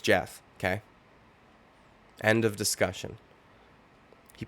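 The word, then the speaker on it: Geoff: a Fighter's name correctly if John anik is not calling him Joff his name's Jeff okay end of discussion he prefaced it by saying that he had a very good performance against Jeff Neal but that he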